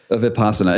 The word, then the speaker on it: Vipassana: Am I pronouncing that right? Vipassana.